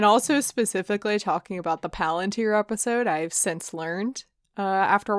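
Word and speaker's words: palantír: pronunciation i'm going with but paulientier no it's palantir i of course will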